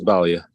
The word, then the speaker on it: Balia: It's Balia. Balia.